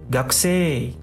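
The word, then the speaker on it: 学生: Nah, di sini ada ga, tulis dengan ga, ku-nya ku, se-nya se, i-nya huruf i gitu. Itu penulisannya. Pengucapannya gaksei.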